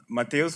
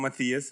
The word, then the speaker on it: Mateus: Well, Mateus. I have been called Matthias, have been called Matthias, Matt, Mateus, every little pronunciation.